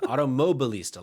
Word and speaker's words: Automobilista: Automobilista, like automobile, but automobilista. Mixed with fashionista.